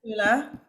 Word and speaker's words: Perla: But what is your job in Perla? Am I pronouncing it right? Is it Perla? Yeah, yes. Yes, In, Perla. in British, yes. In Italian, Perla. we say perla.